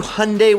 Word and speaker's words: Hyundai: On to Hyundai, which rhymes with Sunday, and it's no surprise their top dollar model comes with their racy N brand.